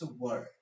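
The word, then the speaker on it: were: कुछ लोग इसको वेयर प्रोनाउंस करते हैं, गलत करते हैं, इट्स वर्ड, राइट।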